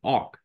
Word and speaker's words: awk: Yeah, so today we're going to cover grep and awk.